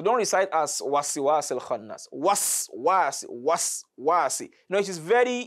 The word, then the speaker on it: وسواس: So many people recite this verse as wasiwasi. No. The sin after that wa is carrying sukun. And it has to be sukun. So don't recite as wasiwasi al-khannas. Waswasi.